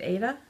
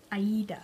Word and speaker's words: Aida: I haven't listened to all of, how do you say it, Aida? Aida.